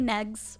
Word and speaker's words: Negs: So most people just call me Negs, rhymes with eggs.